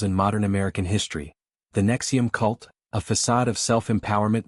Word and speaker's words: NXIVM: In 2010, he positioned Nexium, pronounced Nexium, evoking the heartburn pill, as a revolutionary executive success program, blending rational inquiry modules with promises of untapped potential.